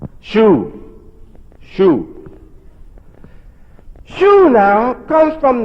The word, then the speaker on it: Shu: There's not another word that I found, maybe you found one, I haven't, that spell like this and have a U sound.